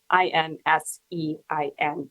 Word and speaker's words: Insein: the prison that he was in is called Insein, Insein, and it is pronounced that way.